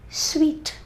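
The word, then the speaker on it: suite: sweet for the director sweet s-u-i-t-e sweet rose sweet and sweet s-w-e-e-t this is very sweet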